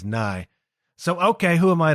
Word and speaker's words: Nye: And I always thought it was Na, but he pronounces it himself as Nye.